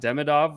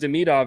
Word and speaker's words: Demidov: you may have noticed I've altered my pronunciation because that's how they say it in these Russian broadcasts that I'm watching. So it's not Demidov. I didn't expect them to say Demidov, but I'm going to try to be true to the pronunciation.